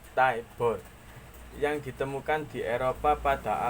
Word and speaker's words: tabor: Snare drum merupakan turunan dari tabor, diucapkan Taibor, yang ditemukan di Eropa pada abad pertengahan sekitar tahun 1300.